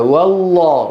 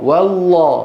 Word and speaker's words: والله: هنا في لفظ الجلاله والله والله والله الواو ايه مرققه واللام مفخمه لا يصح ان نقول